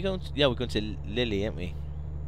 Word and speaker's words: Lille: yeah we've going to Lily a't we which is Lil I think pronounced Lil but I thought Lily sounds nicer doesn't it